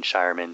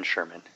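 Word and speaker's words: Scheirman: about final note here it's not being Shireman who did this it's Ben Sherman is how you pronounce his name flux 88 com please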